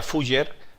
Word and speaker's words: Fuller: Y entonces, aunque se pronuncia Fujer, pero su nombre es es como Shakespeare o Sakpeare, ¿no?